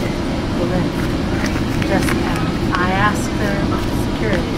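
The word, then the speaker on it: Belén: Proper pronunciation is Belen. Like you said it. Belen.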